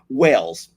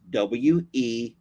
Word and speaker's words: Wells: Wells. I may be pronouncing it differently than you are because I'm from Texas and we have our own language over here. His name is Levi Wells, W-E-L-L-S.